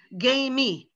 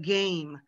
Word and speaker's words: game: favorite clue true blue but a lot of my brazilian students add that e as like an extra syllable a lot of my brazilian students so they'll say like um they'll say like hey t instead of hate you know gay me instead of game they're trying to pronounce